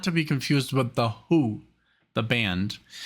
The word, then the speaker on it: The HU: to be confused with the Who, the band. Says the Who is stylized as the HU, pronounced as the Who, like the band, is a Mongolian folk